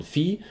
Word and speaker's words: Phi: Diesen Winkel, den benennt man mit Phi, also dieses komische Zeichen wird ausgesprochen Phi, und den nennt man den Mittelpunktswinkel.